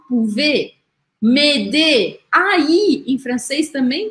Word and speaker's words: pouvez: Acabou com Z, mas esse Z aqui não é pronunciado. Ele faz com que o som do E seja aberto. Por isso eu falo pouvez.